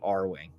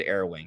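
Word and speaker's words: Arwing: Can you imagine Mario traveling through Hyrule or piloting the R-Wing? He said Air Wing, but it's R-Wing.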